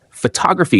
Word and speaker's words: photography: Take the word photograph. The stress sits on the first part, photograph. But add an ending and it moves. Photography shifts the stress to the second syllable, photography.